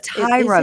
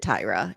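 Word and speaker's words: Tyria: I have It's Tyra, but it's spelled like Tyra. Just Tyra. It is. But they but she pronounces it Tyra.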